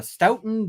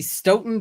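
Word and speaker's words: Stoughton: of the Stout uh stouton District Court I hope I'm pronouncing that right I every time I say stouton somebody says Nope or Sten um so yeah um of the Sten District Court this application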